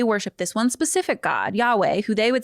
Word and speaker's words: Yahweh: that in English um trying to pronounce the Hebrew sounds we would say today Yahweh.